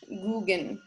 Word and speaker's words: Gauguin: And while his name looks like Gauguin, it's actually pronounced the French Gauguin. Google? He was a fellow, yeah, like Google, but Gauguin.